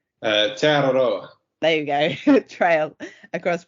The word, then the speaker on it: Te Aroha: kilometre, I'm not going to be able to pronounce this properly now, Lewis, so you might have to correct me in a minute, Te Aurora, is that right? Te Aroha.